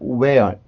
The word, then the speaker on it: where: 여기에서는 또 where 그냥 h가 없는 것처럼 소리가 나고 여기에서는 또 h가 있는 것처럼 소리가 나요.